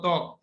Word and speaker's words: ত্বক: ব ফলা উচ্চারিত হয়, যেমন ত্বক, দেখো তয় বয় ক ত্বক।